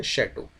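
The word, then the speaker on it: château: इसी को फ्रेंच भाषा में आप देखोगे तो शैटो कहा जाता है। क्या कहा जाता है? शैटो। यह लिखा तो इस तरह से जाता है बट इसको हम लोग प्रोनाउंस करते हैं शैडो।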